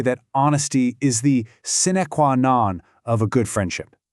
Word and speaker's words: sine qua non: Okay, our next phrase is sine qua non. Let's try that one, sine qua non.